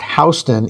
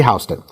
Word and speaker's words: Houston: They approached Lady Hston, and to be clear, her name is pronounced Hston in English, not like the town in Texas with the American pronunciation. So, it is Lady Hston.